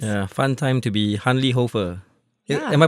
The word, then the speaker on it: Hanli Hoefer: Yeah, fun time to be Hanli Hoefer. Yeah. Am I pronouncing it right?